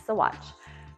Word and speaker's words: Saguache: But now you know, it's Saguache.